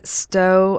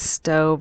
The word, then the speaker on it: Stowe: and um that is stowe and i'm so sorry someone already told me how to say it once but i believe it's stove vermont and i have to say